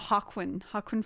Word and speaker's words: Joaquin: Jay's silent. It's a random. Oh, okay. Okay, that's my bad pronunciation. Oh, Hakwin Phoenix.